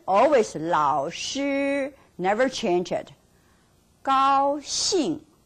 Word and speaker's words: 高兴: 老师 never change it 高兴 always 高兴 not 高兴高兴 it doesn't work so remember that now